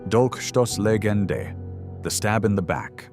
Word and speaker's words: Dolchstoßlegende: This confusion became fertile ground for one of the most dangerous conspiracy theories in modern history: the Dolchstoßlegende, pronounced Dolchstoßlegende, the stab in the back myth.